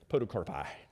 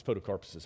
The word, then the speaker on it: podocarpuses: They're called podocarpuses. I love them. I don't think that's how you say it. I don't know if that's how you say it plurally or not. Podocarpi. No, it's podocarpuses.